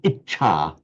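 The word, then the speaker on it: इच्छा: word on its own itcha itcha itcha And remember this is a double ch. So not just it but it exactly have to hold on the ta.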